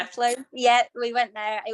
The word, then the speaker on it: Athlone: I think it's called, is it pronounced Athlone? Yeah. Athlone.